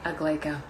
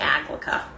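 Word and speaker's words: Aglaeca: say it a lot it became well it was a whole big pronunciation thing for a while where a lot of people were saying a clica and that it wasn't gonna work so ya know it's AG like just a very fun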